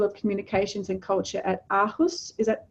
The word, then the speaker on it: Aarhus: He's also an honorary professor in the School of Communications and Culture at Aarhus.